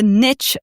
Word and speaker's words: niche: To be clear, a niche market, which is the same as a niche market, you'll hear it pronounced both ways, and sometimes we also call it a target market.